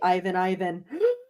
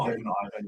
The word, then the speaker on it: Ivan: Oh, Ivan. Yeah, that's a good one. Yeah, that's pretty funny. Apparently, his name pronounced in Switzerland is supposed to be Ivan. That's funny.